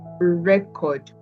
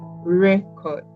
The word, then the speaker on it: record: The stress is on the first syllable. Record. Record. So you can see that the emphasis is on record, on RE. Then we have the verb. The stress shifts to the second syllable, which is record. Record. So you see there's a difference.